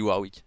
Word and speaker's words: Warwick: je dis NON NON avant je disais varv pardon maintenant je dis warwi bien non je disais